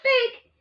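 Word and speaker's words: PHEIC: emergency of international concern p-h-e-i-c pronounce as fake for any reason or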